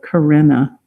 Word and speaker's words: carina: And this area, which is highly enriched with those, is called the carina. Let me spell that. It's like the woman's name.